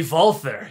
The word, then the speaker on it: Walther: I also think it's Walther, but whatever. It's a bunch of German guns. Because W's in Germany, in German language, are pronounced as a V. Oh, be Walther.